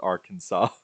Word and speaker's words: Arkansas: of a similar one since the letter S at the end of French words is usually silent we pronounce Bill Clinton's what's the home state as Arkansas okay so it's because